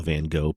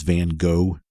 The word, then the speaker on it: Van Gogh: First of all, I know the artist's name gets different pronunciations in different countries, so where I'm from, I've always heard it as Van Gogh. It's Van Gogh, something like that in some other places.